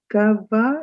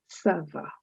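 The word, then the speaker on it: ça va: Understand that C is pronounced as s and not G. So this word is not ga, it is sava.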